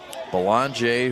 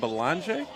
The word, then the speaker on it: Belanger: ball another one hmm you pronounce that Belanger is that correct yeah yeah I had to I was incorrect on my first attempt and your boy Katz